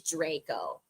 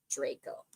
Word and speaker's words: Draco: at 15 past oh long a okay so it is Draco Draco yeah like Ray so Draco interesting there